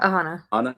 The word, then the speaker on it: Aahana: aana is that you say it right yeah aanaa okay I remember somebody said like Alana or